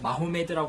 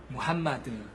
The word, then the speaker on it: 무함마드: 그래서 뭐 마호메드라고 하면 안 되고 무함마드 이렇게 말해야 된다는 것.